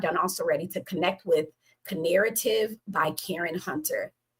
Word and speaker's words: Knarrative: already, to connect with Knarrative by Karen Hunter. Knarrative. Knarrative. It's like narrative with a K, or maybe it's narrative. Girl, slap me. I should know KN is silent.